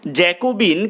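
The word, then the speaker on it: Jacobin: জ্যাকোবিন 100 দাগের প্রশ্ন জ্যাকোবিন এর ফরাসি উচ্চারণ কি উত্তর লিখবে জ্যাকোবা 101 দাগের প্রশ্ন কোন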